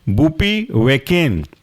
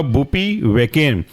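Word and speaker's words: bupivacaine: केन दूसरा एग्जांपल है बूपी वेकेन बूपी की स्पेलिंग है बी यू पी आई और वेकेन वी ए सी ए आई एन ई केन केन सब में आएगा तो यह कहलाएगा आपका बूपी वेकेन अगला एग्जांपल है रोपी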